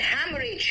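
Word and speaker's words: haemorrhage: Exhaust and हैमरेज। हैमरेज में second H silent है।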